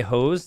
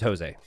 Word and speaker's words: Jose: magnet mood says is it a French thing to say hose instead of Jose uh I don't know how many people are named or like Jose in France I imagine very few but the pronunciation is Jose I think this player